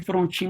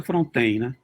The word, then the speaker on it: Frontin: Paulo Paulo de Frontin se escreve Frontin mas a pronúncia Frontier Paulo de Frontin 568568